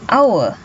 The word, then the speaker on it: hour: And hour. So the pronunciation is like the hour.